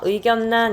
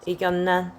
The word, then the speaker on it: 의견란: 어떤게 있어 대표적인 거 의견란 있잖아 의견란 그죠 여기 같은 경우에는 니은 리을이 만나서 리로 바뀌지 않아 어떻게 된다고요 니은으로 바뀐다고 그래서 의견 선생 이미 뒤까지